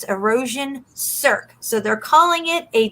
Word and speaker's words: cirque: And that's how you pronounce it because I looked it up. It's erosion cirque.